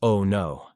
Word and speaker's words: Onu: We finally brought up at a place called Onu, pronounced "Oh no," and were there 5 days.